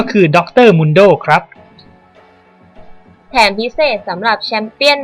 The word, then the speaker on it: Mundo: หลาย คน ก็ ยัง เรียก ผิด เป็น หรือ Mundโด้ กัน เลย นะ ครับ ซึ่ง ชื่อ ที่ ถูก ต้อง ที่ สุด ก็ คือ ดร. Mundโด้ ครับ แถม พิเศษ สำหรับ แชมเปี้ยน ใหม่ ประจำ PATพช.